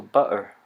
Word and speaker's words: butter: it in sounds like uh-oh, or some people pronounce butter without the T's but with a glottal in between, so butter.